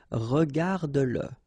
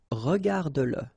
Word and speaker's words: regarde-le: Remember that if you've got, in some situations, the pronoun le, and if it comes after your verb, like in that case, then you will have to pronounce it. Okay, so regarde-le, regarde-le, all right, regarde-le, écoute-le,